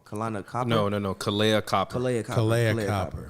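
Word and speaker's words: Kahleah: Kalana, I don't want to say her name wrong. Kalana Copper? No. Kalea Copper.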